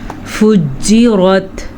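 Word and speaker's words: فُجِّرَتْ: وَإِذَل كَوَاكِبُ انتثرت۔ وَإِذَا الْبِحَارُ فُجِّرت، جیم پہ جھٹکے کی کیفیت پیدا ہو رہی ہے، اور را جو ہے اس کو پر پڑھیں گے۔ وَإِذَا الْقُبُورُ بُعْثِرَتْ۔ وَإِذَا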